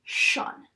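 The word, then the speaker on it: -tion: the ending T-I-O-N, and it's actually pronounced, even though there's a T in it, it's pronounced shun. So some examples of this would be mo shun, po shun, solu shun. Even though we see that T, if it's followed by I-O-N, we are not going to pronounce it like a T. We're going to pronounce it like a sh.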